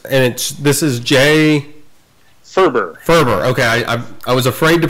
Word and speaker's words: Faerber: great and it and this is jay Furber Furber okay I was afraid to pronounce it I'm like I'm gonna butcher it